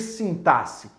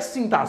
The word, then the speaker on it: sintaxe: É sintaxe que se fala. Essa é a forma correta, perfeito?